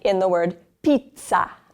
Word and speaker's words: pizza: Pizza.